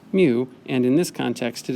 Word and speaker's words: mu: It is pronounced mu, and in this context it is called the coefficient of friction.